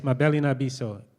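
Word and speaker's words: Mabele na Biso: The second word is NA, as in Nancy, NA, and then the third word is BISO, BISO. The spelling of the first name is, Mabeli Nabiso. Did I say it right, Mabeli? Yes, Mabeli Nabiso. MABELE space NA space BISO.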